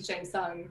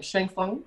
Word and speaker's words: Shang Tsung: I think it might be Shang Tsung, the bad guy.